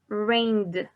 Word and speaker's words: rained: La T o la D puede ser. La correcta sería rained, como una D, ¿no? Pero si nos cuesta trabajo la pronunciación, puede ser como una T también, ¿ok?